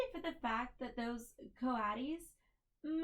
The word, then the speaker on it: coatis: These are coatis, Miss Brisbane said, reading from the letter, pronounced coatis.